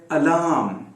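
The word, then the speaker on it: alarm: अलार्म, अलार्म, ये जो अलार्म में सबसे पहले अ जो आया है वो बिल्कुल श्वा है, बिल्कुल छोटा पढ़ा जाएगा। उसके बाद जो अ आया है आर के साथ, वो खींचेगा, क्योंकि वो लॉन्ग मोनोफोन्स में से है।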